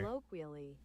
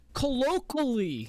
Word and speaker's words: colloquially: But no, you're missing a simple kw sound.